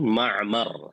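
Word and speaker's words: معمر: Wa Ma'mar bi fathil mimain wa sukunil ain Ma'mar, hakada. Ya, bacanya seperti itu.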